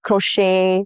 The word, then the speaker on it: crochet: Examples are ballet, buffet, crochet, all have the T's that are silent.